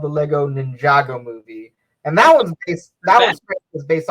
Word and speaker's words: Ninjago: It's Ninjago, but it's spelled Ninja Go.